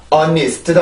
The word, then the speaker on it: honest: 하지만 발음기어로 보면 이건 honest도 아니고 honest도 아니고 honest 이렇게 발음이 돼요.